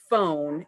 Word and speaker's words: phone: words so we know the word phone is spelled p-h-o-n-e the p-h says like in the word farm it's an f sound but it's written as a ph and because we've learned